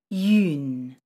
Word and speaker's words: yun: Yun. This is called a nasal vowel. It's created by combining the sounds yu plus n, but should be pronounced as one sound.